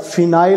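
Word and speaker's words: phenyl: Benzene का अगर एक हाइड्रोजन निकाल देते तो उसको कैसे प्रोनाउंस किया जाता है, कैसे लिखा जाता है, फिनाइल बोला जाता है उसको।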